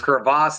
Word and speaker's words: crevasse: for anyone right yeah actually pronunciate it crevasse is crevasse the actual pronunciation I like that it